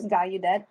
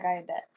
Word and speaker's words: Gallaudet: It's called, I don't know how you pronounce it, but it's Gallaudet University. Yeah, And- Gallaudet. Yeah, Gallaudet.